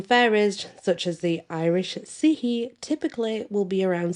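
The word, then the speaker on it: Sidhe: The Sihi are very, very Seelie, if you want to call them the Seelie, whatever. I prefer the Sihi because it's how it's meant to be pronounced.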